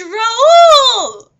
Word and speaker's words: Raoul: It's pronounced Raoul!